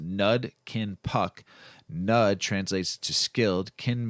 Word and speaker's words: Nud Kin Puck: The word Nud Kin Puck is a southern Thai language pronounced Nud Kin Puck.